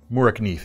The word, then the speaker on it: Morakniv: And when we're talking of lightweight fixed blades, the conversation always has to start with Mora, or Mora Knife if we're following our pronunciation more particularly.